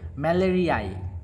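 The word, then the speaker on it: malariae: এই ম্যালেরিয়া থাকলে ম্যালেরিয়াই এইভাবে উচ্চারণটা হবে, ঠিক আছে।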